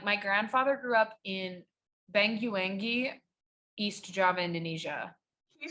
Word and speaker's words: Banyuwangi: I also just like knowing that like my grandfather grew up in Banyuwangi, East Java, Indonesia. Can you say that one more time? Banyuwangi.